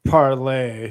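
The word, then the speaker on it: Parler: the social media company parlor that was up and running uh was taken pronounced parlay thank whatever you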